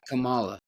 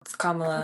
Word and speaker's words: Kamala: to say her name I want to say Kamala but Notre it's not Kamala no comma found out today comma she doesn't even claim